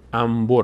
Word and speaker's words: انبر: مثال‌های دیگری هم حتماً انبر مثلاً انبر انبر که برای چیز استفاده میشه بریدن سیم این‌ها استفاده می‌کنن انبر نمیگیم انبر انبر میگیم نون به وقتی پشت سرم بیاد میم تلفظ میشه عین همین قاعده در